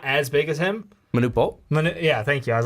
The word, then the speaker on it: Manute Bol: a bad comparison but like the old like Monty ball like he's he's not as big as him Manute Bol yeah thank you I was like my pronunciations